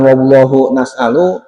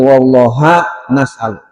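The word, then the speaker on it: والله نسأل: Dan hanya kepada Allah kami mohon bacanya bukan wallahu nasalu, tapi wallah nasalu.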